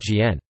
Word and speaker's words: 简: Simplified and reduced are actually homophones in Mandarin Chinese, both pronounced Jian.